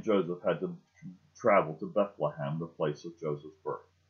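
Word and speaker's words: בית לחם: In Hebrew, the word is pronounced Bethlehem. Bethlehem. Beth, the first word, B-E-T-H. Lechem, the last part of it, L-E-H-E-M.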